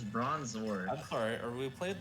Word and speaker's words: Bronzor: bronzer with trickerman rocks bronzer it's bronzor i'm sorry or we